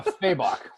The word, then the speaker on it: Fabok: or yes jason faber fabok well i think the way he pronounced it in his instagram story as of late is uh feybach right on yes thank